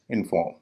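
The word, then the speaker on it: inform: और इसका उच्चारण है इनफॉर्म।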